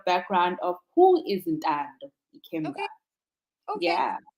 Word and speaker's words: Ikemba: But you have an interesting surname, Ikemba. Am I pronouncing it Yeah.